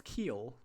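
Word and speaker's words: Kiel: yes that's his name do you know how to pronounce keel that's a city in Germany the name is Kyle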